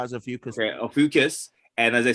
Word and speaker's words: Ophiuchus: No, I was gonna say they removed Odokis. How do you pronounce it? I call it a few because I just thought it was a few because Okay, Ophiuchus.